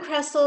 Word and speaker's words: Cressel: But I do want to come back to, I know that Cressel, did I pronounce that right? And then the rabbi. Please go ahead, Cressel. Okay, good. So I'm Cressel.